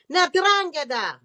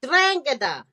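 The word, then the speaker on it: 'Ndrangheta: Ndrangheta. The third group is the Ndrangheta.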